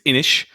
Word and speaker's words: Inis: This one, I'm just going to say it out so no one mispronounces it too soon. It's Inish.